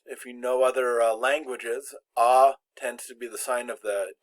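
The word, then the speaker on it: à: no accent on it this is pronounced ah and generally it means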